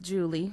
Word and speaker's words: Julia: My great-grandmother, Julia, pronounced Julie Williams Taylor, was also the sister to the late Elbert Williams.